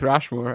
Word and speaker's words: Rushmore: There is another sort of Mount Rushmore.